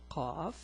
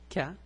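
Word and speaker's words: قَ: Now, the pronunciation is a bit hard. It's qa, not ka, it's qa.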